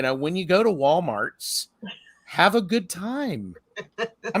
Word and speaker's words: Walmart: there but it's pronounced Walmart there's no s at the end so Walmarts it's not Walmarts it's not Walmarts no